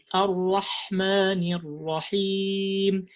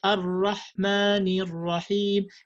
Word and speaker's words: Ar-Rahmanir Rahim: So you have to say Ar-Rahmanir Rahim. You might say Ar-Rahmanir Rahim.